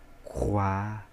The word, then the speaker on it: roi: Então, o roi, roi. Perfeito? Aí, essa sequência aqui, tá? Roi, croix, acewa. É desse modo que se pronuncia. Quando tem OI.